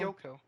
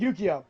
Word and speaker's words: Yukio: Yoko? Yoko? Yukio? Who? Yukio. Yo. Oh, okay. Yoko's the one from Gurren Lagann. Yeah, I know. I didn't pronounce the I.